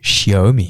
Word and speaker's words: Xiaomi: Donc on vous en Xiaomi, ça s'écrit Xiaomi. Mais phonétiquement, ça se dit, Pierre? Xiaomi.